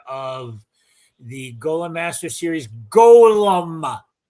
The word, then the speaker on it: Golem: He is the author of the Golem Master series, Golem. Say it right. Golem.